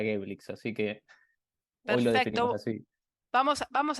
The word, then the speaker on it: Geblix: así así fue empezó como terminamos adoptando lo que la gente nos decía que era gaelix así que hoy vamos